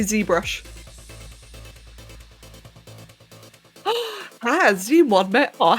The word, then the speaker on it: ZBrush: not that's okay or like how i a degenerate would pronounce it zabrush this is a brush that brush i don't know that kind of rolls off the tongue a little bit i prefer zbrush but i don't think